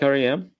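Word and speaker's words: R.E.M.: out really you like RM yeah really I had no idea actually I used to pronounce it REM though because I don't understand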